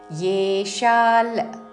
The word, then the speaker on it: యేషాం: వానసాజాత యేషా లోకైమా ప్రజాః యేషాల్ య తో ఏ ఏ అని పలకకూడదు ఇక్కడ యేషాల్ అనుస్వారము నాసిక